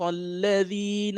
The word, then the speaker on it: الذين: صراط الذين أنعمت عليهم صراط الذين أنعمت عليهم. Right? So you don't pronounce this alif. You don't pronounce this alif here, right? صراط الذين أنعمت عليهم.